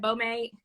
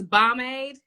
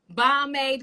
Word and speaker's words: Bomade: And did I pronounce it right, Bomade? Absolutely not. Correct me, yes, please. It's bomb. Tell me, how should we really be pronouncing it? Bomb ass lemonade, like pomade.